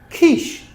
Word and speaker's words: quiche: So they're spelled ch, but we pronounce them sh. Okay? Chef, chalet, machine, brochure, parachute, chaperone, chandelier, crochet, quiche. Teacher David does love a cheese and ham quiche.